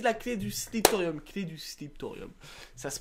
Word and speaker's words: Sliptorium: présentation donc voici la clé du secret du slip thorium ça se prononce ainsi c'est facile à trouver nous sommes